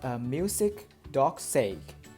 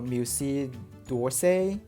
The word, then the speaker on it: Musée d'Orsay: And we have this Musée d'Orsay. That is the French pronunciation, I think, or Musée d'Orsay in English.